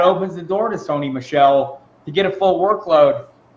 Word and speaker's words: Michel: make the difference and Sony Mitchell or Michelle excuse me it's gonna take me